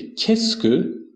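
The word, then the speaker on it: qu'est-ce que: که به این کلمه که تلفظ میشه کسک به معنی چه چه چیزی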